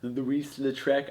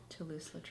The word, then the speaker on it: Toulouse-Lautrec: They've got that Art Nouveau thing going on, kind of the Louis-Lautrec. I said his name wrong. Toulouse-Lautrec.